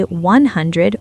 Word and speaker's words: hundred: You can say 100 or 100. Both are 100% correct. 100 is just more casual. Let's break down 100. 100. The stress is on hun. 100. The dread part is insanely fast.